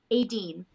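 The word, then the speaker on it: Éadaoin: Adine. Adine. Which is spelled Eadaoin.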